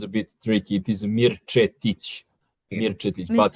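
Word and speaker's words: Mirčetić: It is Mirich.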